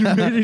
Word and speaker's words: Mater: Dude, Mater just fucking. Mater. He's like, yeah, howdy. Mater rhymes with tomato.